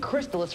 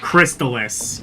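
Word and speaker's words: Crystalis: And Crystis for the NES. I'll be back. Crystallis. Yeah, that's how that's pronounced.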